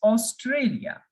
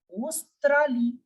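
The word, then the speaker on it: Australie: in French simply as ostrali australi for Australia now e in the end will remain completely silent the pronunciation of the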